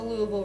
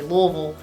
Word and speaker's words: Louisville: People from Louisville, like me, will say Louisville as opposed to Louisville, and often have big debates about proper pronunciation, especially with outsiders who don't understand what they're saying when they say Louisville.